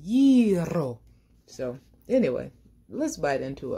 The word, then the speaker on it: gyro: I was watching a YouTube video on how to pronounce it, and one of the guys, he said, that's the only way we will accept it, gyro.